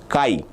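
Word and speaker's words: chi: The pronunciation for this is Kai.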